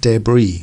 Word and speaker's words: debris: very popular in France notice with a lot of these words that come from French we don't pronounce the last letter so the tea and